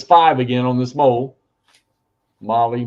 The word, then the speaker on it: mole: again on this mole Molly Mole whatever you want to call it well someone said you pronounce it as whole like oh okay Mole Hole all right uh that was